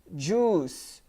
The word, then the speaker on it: juice: it's not juice it's juice juice the I is there but you do not pronounce it you say juice juice